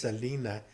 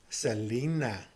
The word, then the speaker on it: Selena: your parents, you got to say not just Selena, you got to go Selena.